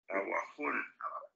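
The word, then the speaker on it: Awajún: Abajo se escribe como con A, W, A, J, U, N. J, U. A, W, W. ¿Sí o no? Sí, A, W. W, A, J, U, N. Aguajún.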